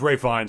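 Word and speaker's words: Ralph Fiennes: is he is it it's pronounced ray fines and it's just not what it looks like at all when it's written down i don't know why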